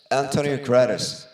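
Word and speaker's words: António Guterres: The rumor has it some relative, I don't know how, do you guys know how this guy's pronounced? Antonio Guterres. Antonio Guterres.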